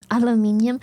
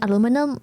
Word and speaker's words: aluminium: Aluminium. Listen, I got into the habit of saying aluminum, but I still like aluminium better.